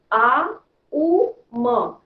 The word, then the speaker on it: ओम: इसमें हमें आ उ म, ये जो वर्ड है इसको 3 भाग में उच्चारण करना है।